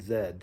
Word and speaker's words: Zed: it's called a and Zed so A and Z the Australians pronounce z Zed A and Z big